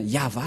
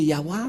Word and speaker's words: Yahvah: le cheftoras et bien yava la la prononciation et on va prendre en photo car certains aussi disent que que c'est yawa mais pas yava et c'est encore une